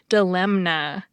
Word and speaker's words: dilemma: I was told that the way to remember how to spell that word was to pronounce the N, dilemma.